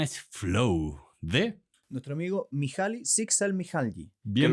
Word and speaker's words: Mihaly Csikszentmihalyi: Nuestro amigo Mihaly Csikszentmihalyi. Bien pronunciado.